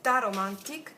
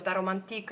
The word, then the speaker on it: Taromantic: Ok, abbiamo fatto la nostra bella T di Tar Romantic. T romantique, poi dipende dall'accento, no? Alcuni dicono Tar Romantique, altri Tar Romantic.